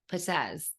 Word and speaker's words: Perez: So we've got Antonio Perez. Did I say it right? Yes, Perez.